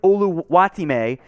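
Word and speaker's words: Oluwatimi: And just for James Yoder, Michigan's own Olu, which is the easier way to say his name, the full pronunciation, Olusegun Oluwatime, the Virginia to Michigan transfer, the center.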